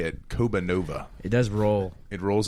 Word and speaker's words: Kobanova: Kobanova. It does roll. It rolls off the tongue. Once you've learned the pronunciation, because we've gotten Siri is convinced it's Kobanova.